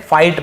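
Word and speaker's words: fight: फाइट, फाइट यानी लड़ना, यहाँ पर भी जी साइलेंट है, फाइट बस पढ़ेंगे, ठीक है, फाइट यानी लड़ना।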